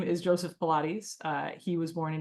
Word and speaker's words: Pilates: his name is Joseph Pilates uh he was born in 1883 and he died in 1967 it's pronounced pilates not Pilates um it's a name of a Greek origin he is a German